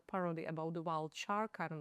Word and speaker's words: Sharka: me, who calls you Sarka, and that's not your name, is it? It's Sharka. It's Sharka. As in a shark.